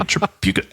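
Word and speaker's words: Tripucka: oh wow and Kelly trauka K Kelly truka I believe that's how you say his name I did look it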